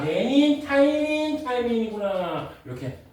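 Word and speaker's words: 티민: 그다음에 T는 타이밍이라고 읽어요. 타이밍.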